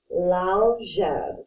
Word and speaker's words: l'algèbre: So we're going to call this l'algèbre. Kind of like Jeb Bush, but with a j sound. So l'algèbre is how you say algebra.